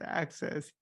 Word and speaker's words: AXS: So access, I wanted so the whole idea of access. So when I say access, it's spelled AXS. So when we're talking about Access Lab and Access Map, it literally is spelled AXS.